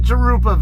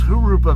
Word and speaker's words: Jurupa: Not Jurupa Valley, guys. It's Jurupa Valley. That's a Spanish word. The J's don't get pronounced like J's, and they get pronounced like H's in Mexican Spanish dialect.